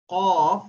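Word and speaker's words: قاف: Now, to understand how to pronounce qaf, you can see this is what the mouth is. The lowest part of the tongue, that is towards the throat, while pronouncing qaf, that is supposed to be joined with the upper portion of the mouth, that is the roof, and that is what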